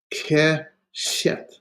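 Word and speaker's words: קשת: So it's a two-syllable word.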